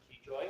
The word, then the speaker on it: Gioia: Goya. Goya. Goya. Goya. Why did I mispronounce that?